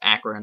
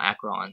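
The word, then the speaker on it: Akron: akan video before and I guess it's pronounced akan not Arron sorry about that so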